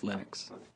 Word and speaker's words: Linux: pronounce my name but Linux is always Linux he developed a kernel